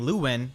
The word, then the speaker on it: Lewyn: That's why I just refer to Lewyn as Lewyn instead of saying Lewyn like his localized name.